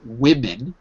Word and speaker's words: women: is a correction there are two you said woman but the pronunciation is of course woman women women right there are two women take a